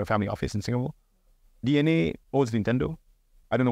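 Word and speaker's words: DeNA: It's written as Dina, but it's pronounced D-N-A, which is a huge public listed entity out of Japan.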